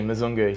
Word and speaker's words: Mzungu: Yeah, he's had a tough time with Big Bryza, but yeah, it's actually Mzungu, so you can maybe pass that on to him.